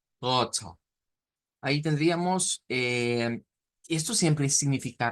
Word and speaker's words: rote: que era rot, Rote, y ahí se agrega un shua al final. Entonces, vamos a pronunciarlo, incluso se separan las sílabas, porque esta T se vuelve una sílaba aparte, o sea, ya no es una palabra monosílaba como al principio, sino que se hace bisílaba y la pronunciamos como roto, roto.